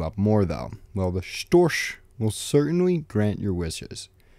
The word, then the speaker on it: Storch: I also don't really understand how that second sound in Storch is that CH that's pronounced more like an SH.